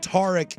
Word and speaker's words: Tarik: But Tarik is the traditional pronunciation.